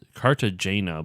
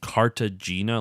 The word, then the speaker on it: Cartagena: know if I'm saying or it's car to Cartagena but I'm sure that's not how you actually pronounce that that's like the American version ray